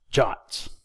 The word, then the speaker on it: JWT: web token or JWT JWT s are sometimes pronounced shots a JWT may look